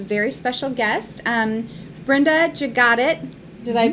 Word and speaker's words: Jagatic: today have a very special guest and brenda jus got it did i pronounce that correctly yes fantastic brenda is with